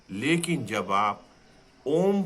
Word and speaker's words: ओम: जब हम ओम शब्द का उच्चारण करेंगे, जो कि अ, उ तथा म शब्दों के योग से बना है, अब आप सांस छोड़ते हुए अ तथा उ का उच्चारण करें। म की ध्वनि होंठ बंद कर नासिका से करें, जैसे भंवरा गुंजार कर रहा हो।